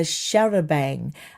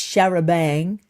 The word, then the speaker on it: charabanc: Evidently, it's referred to as a sharabang. Um, in English it's sharabang, which is like a nickname, and in French it's sharaban.